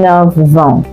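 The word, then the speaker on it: neuf ans: Even 9 ans. 9 years old. F changes to what? V.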